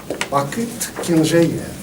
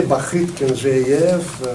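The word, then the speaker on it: Бахыт Кенжеев: Mesdames, Messieurs, Bakit Kenjeyev. Je me permets de prononcer comme je me suis habitué, Bakit Kenjeyev.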